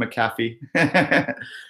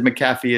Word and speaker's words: McAfee: Medi98 said McAfee is, and I know it's McAfee, but I don't see an extra A in his name, so I'm pronouncing it McAfee.